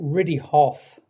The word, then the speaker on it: Riddihough: I pronounce it Riddihoff. Oh, right, It Riddihoff. yes. Mm. is a type of hill in the north of England.